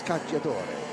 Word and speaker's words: Cacciatore: And I spoke to Nicolo about his name, and I was like, yeah, he goes, it's Cacciatore. And I was like, I've been saying it right all season.